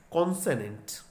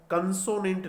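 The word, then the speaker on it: consonant: कोई भी इसको कंसोनेंट नहीं बोलेगा या किसी और उच्चारण में नहीं बोलेंगे। ये देखिएगा हमने इसका ट्रांसक्रिप्शन यहाँ लिख दिया है, क है उसके बाद ओ की मात्रा है, कौन से ए ने टे, कॉन्सनेंट।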